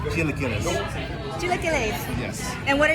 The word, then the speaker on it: chilaquiles: It's pronounced chilaquiles.